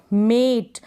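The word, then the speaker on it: mate: एम को म, ए, टी को ट, मेट, ये लास्ट में ई है तो मेट है, नहीं तो MAT मैट होता, क्या होता है MAT मैट, और ये है मेट। प्रोनाउंसिएशन में डिफरेंस है दोनों के, लास्ट में ई है ना इस वजह से।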